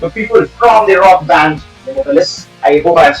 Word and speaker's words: Nemophilis: There are many ways to go on about it, but we'd like it to be called Nemophilis, I think. So I was No, that's close. not Was the close. correct pronunciation, I believe.